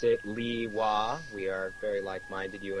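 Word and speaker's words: Lewa: probably learned here I personally always pronounced it Li ha we are very like-minded You and I by the way according to ps01 it's supposed to be pronounced leiwa like propolina I see assistant that's the only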